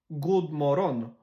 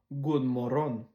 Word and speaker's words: God morgon: God morgon. God morgon. Un peu comme genre moron, mais moron.